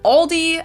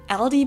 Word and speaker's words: Aldi: for very low prices in English people usually pronounce this Aldi I think I've also heard Aldi before but I think most people say Aldi or they also sometimes add an s that isn't there in the end and say Alis in